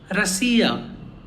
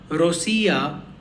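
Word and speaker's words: Россия: In this word, we have 3 vowels, O, E and Ya. E is the stressed one. So the other vowels, O and Ya, are not that much pronounced. So it sounds like Rasiya.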